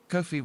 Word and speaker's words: Ko-fi: Kofi rhymes with no fee glory to the nakuza.